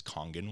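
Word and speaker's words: Kangen: Uh a lot of you guys may be familiar with it is all it's known as Congen water. Okay. That's how it's pronounced.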